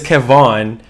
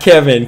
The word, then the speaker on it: Kevon: His name is Kevon, not Kevin. Kevon.